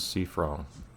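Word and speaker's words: Siffrin: Yes, this is Cifron. I'll pronounce his name with its original intention, but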